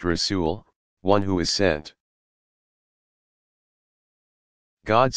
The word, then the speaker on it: Rasul: Rasul, pronounced Rasul, one who is sent.